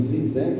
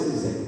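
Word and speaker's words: Žižek: A pronúncia é G, o Z é como se fosse um J. Então é Zizek. Mas vamos chamar de Zizek, tá?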